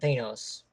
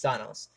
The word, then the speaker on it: Thanos: Well, Red Skull, he said pronounces it Thanos, but everyone else knows it's Thanos.